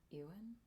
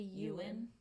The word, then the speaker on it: Ewan: from Moulin rouge's name Ewan that's not how you say it did you know that it's supposed to be you win I'm American and also